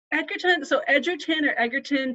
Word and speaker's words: Edgerton: Edgerton, people say it in different ways.